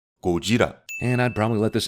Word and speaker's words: Gojira: a Japanese actor and actually pronouncing Godzilla by his original name, Gojira.